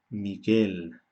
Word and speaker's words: Miguel: La U hace que la G se pronuncie de forma suave, pero la U en sí no se pronuncia.